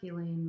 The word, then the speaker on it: Ghislaine: have been waiting for, Ghislaine Maxwell's trial. And yes, that is how you say her name. At least her brother says her name that way, so I'm just going to follow suit.